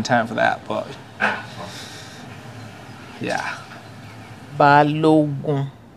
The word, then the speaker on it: Balogun: Balogun. It's actually should have been pronounced Obalogun. Oba in Yoruba means the king. Ogun is war.